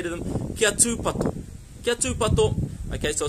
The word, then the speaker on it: tūpato: And we're looking, there's actually a macron, a tohu tō, on the U in the second word, tūpato. So we're looking for a long U sound. So it's not kia tūpato, it's kia tūpato.